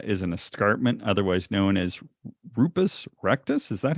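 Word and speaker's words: Rupes Recta: is uh is an escarpment otherwise known as rupus rectus is that how you say it's Latin I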